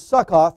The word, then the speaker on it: Sukkot: and they took their journey from sukkot which is suck off the way it looked it pronounced their worded there and encamped in ethium